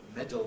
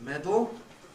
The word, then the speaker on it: medal: that sudden becomes sudden schah and L may make camic l so that medal becomes medal schah and M may